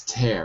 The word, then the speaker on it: tear: So it looks like tear, but it's tear. It's an irregular pronunciation.